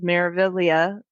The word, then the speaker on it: Meraviglia: their MSC cruise, the Meraviglia. I think that's how you say it. It's kind of tricky. It's got a silent G in there, like lasagna, Well, and I think but people say it differently.